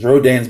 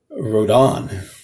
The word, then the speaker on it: Rodan: of pteranodon and um in japan it is called um uh rhodan and um so they took the r a from pteranodon and d-o-n at the end is for rhodan so basically here we we say rodan and over there in japan they pronounce